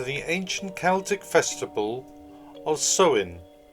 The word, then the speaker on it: Samhain: date back to the ancient celtic festival of sewin it's actually spout s-a-m-h-a i n but pronounced so in the celts who lived 2 000 years ago